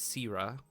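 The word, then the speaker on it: Syra: Her name is Sira, and she is their best runner. Okay. Can you spell that for me?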